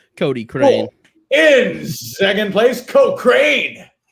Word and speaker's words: Cochrane: It'd just be Cody or Cochrane. Cody Crane.